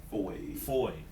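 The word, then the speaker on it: Fahie: Foy. F-A-H-I-E. However, phonetically, it is spelled F-O-Y.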